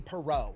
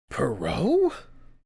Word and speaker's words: Parent: Future Hall of Famer, legendary goalie Perau. It spells parent unless that's supposed I'm assuming that's supposed to be your French pronunciation.